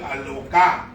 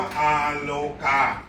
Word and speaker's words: อาโลกา: หนึ่ง ที่ จูง หมา ชื่อ อโลก้า ที่ จริง ต้อง ออก เสียง ว่า อาโลกา มัน เป็น ธรรมจักรปวัตนสูตร น่ะ